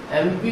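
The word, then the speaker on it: MP: एमपी को जब हम बोलेंगे तो क्या निकल रहा है, पहला वर्ड देखिए ए निकल रहा है।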